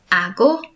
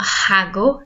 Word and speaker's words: hago: Hago, I do. So this is not hago, it's hago.